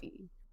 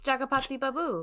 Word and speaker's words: Jagapati Babu: Uh, I don't think that's his name. It's Jagapati Babu. Yeah, but you said something else. I said Jagapati. I thought you said Ragapati. That's not his name.